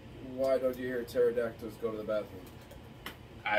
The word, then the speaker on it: pterodactyl: Why don't you hear pterodactyls go to the bathroom? I don't know why not. Because the P is silent.